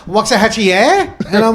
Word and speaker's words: Waxahachie: Well, I mean, I am from Waxahachie, Texas, which is an Indian name, but it still sounds super country. And people, Waxahachie.